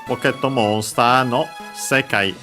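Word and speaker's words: 世界: Then it says Pokétto Monster no Sekai e. And yeah, the usual Pokétto Monster, Pocket Monster, the possessive particle no. Sekai, as we have seen, a Chinese compound accent on the first syllable, this one, means word.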